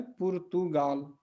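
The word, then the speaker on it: Portugal: और जो देश का नाम है वो है पुर्तगाल, ठीक है। अगर आप इंग्लिश में बोलते हैं तो पोर्चुगल भी बोल सकते हैं या पुर्तगाल भी बोल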